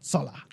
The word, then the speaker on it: Jolla: Apparently it's pronounced Zola, as in a sharp Z in the front.